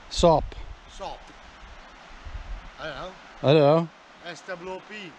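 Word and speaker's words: Soop: Well, I call it Dragon Soup, but it's spelled S-O-O-P, so there's no U in it. Sop.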